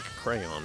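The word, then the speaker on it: Craiyon: It's spelt like crayon, but with an I before the Y.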